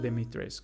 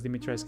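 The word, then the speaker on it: Dimitrescu: I think it's called Deitres because Deitresque is the wrong pronunciation.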